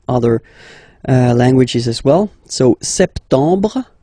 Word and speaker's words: septembre: So septembre, septembre. Remember this EM en septembre. You don't insist on the final E.